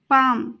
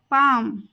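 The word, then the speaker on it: palm: होकर काफ काफ हथेली पाम यहां पर भी एल साइलेंट रहेगा और इसका प्रोनंसिएशन होगा पाम की तरफ टुवर्ड्स टुवर्ड्स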